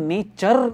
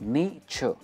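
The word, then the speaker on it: nature: सबसे पहले मैं एक चीज बता दूं, ये जो वर्ड है ना नेचर, इसे हम नेचर नहीं कहते, इसमें आर नहीं आता है, हम आर प्रोनाउंस नहीं करते। इट इज नेचर।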